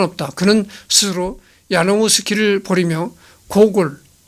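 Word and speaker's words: Гоголь: 그는 스스로 야노우스키를 버리며 고골 우크라이나어로서는 호울이라고 합니다. 고고를 우크라이나어로서는 호울이라고 이제 발음한다는 것이죠.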